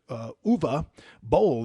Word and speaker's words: Uwe Boll: Number one, we've got the movie director Uwe Boll is how you pronounce his name, German movie director. He made the Citizen Vigilante movie that everybody's talking about. Uwe Boll, yep.